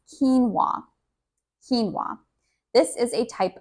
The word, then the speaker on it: quinoa: The first is pronounced quinoa.